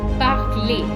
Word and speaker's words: parler: So parler is pronounced parler. ER ending is pronounced as A, just like EZ ending is pronounced as A.